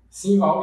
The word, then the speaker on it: Sinval: Pronunciei seu nome corretamente? Simval, isso mesmo.